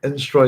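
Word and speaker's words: Instroy: Instroi is an interesting word. It's pronounced in the same way as destroy, and it's from the French instruire.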